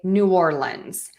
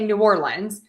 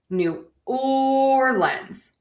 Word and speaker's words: New Orleans: So, we have the New Orleans Saints or you can say New Orleans.